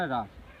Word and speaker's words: হ্রাস: বৃদ্ধি সমহার বৃদ্ধি ও হ্রাস হ্রাস না এটার উচ্চারণ হ্রাস ঠিক আছে সমহার কথার অর্থ হচ্ছে সমান হার